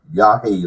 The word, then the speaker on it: Yahweh: His name is like a breath because it precedes in all literature and all words. The Father's name, the only way it can be pronounced is like a breath. You breathe in and you breathe out, and that is my Father's name.